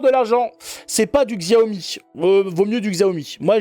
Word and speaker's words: Xiaomi: On dit Xiaomi. Oui, on dit Xiaomi, effectivement, parce qu'ils prononcent le X comme ça.